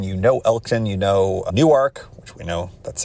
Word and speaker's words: Newark: If you've ever driven I-95 through the region, you know Elkton, you know Newark, which we know that's how you pronounce it.